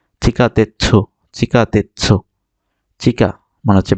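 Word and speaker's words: 地下鉄: এরপরে ওয়ার্ডটা আছে চিকা তেচ্ছু, দেখেন এই ছুটা বড় তাই এটা পূর্ণ উচ্চারণ হবে চিকা তেচ্ছু, চিকা তেচ্ছু, চিকা মানে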